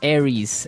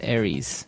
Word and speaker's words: Aries: And so it's pronounced Aries. Aries.